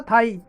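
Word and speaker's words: thigh: नवेल, जांग, जांग दोस्तों बोलते हैं थाई, इसकी सही प्रोनाउंसिएशन था थाई।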